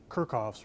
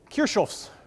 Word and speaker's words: Kirchhoff: that with these rules if we want to americanize the name or texize the name in my case it would be kirkov rules if you want to go for the more legitimate pronunciation which Professor Leen does so I think we should it is kof's rules it's kind of